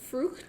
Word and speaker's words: Frucht: I'm going to say that it's pronounced Frucht. Frucht. Yes, German-style beer, so Yeah. probably the German pronunciation.